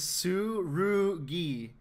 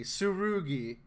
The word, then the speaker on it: Tsurugi: intervention right now okay his name is sue roogie the rule comes before the G Tsurugi Ruby I can't pronounce